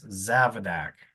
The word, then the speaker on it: Zavadak: That's Zavadak.